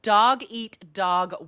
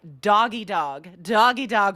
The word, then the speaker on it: dog eat dog: Now, we do hear natives mispronounce and even misspell this in writing, and I would hear people say like doggy dog world, which is incorrect.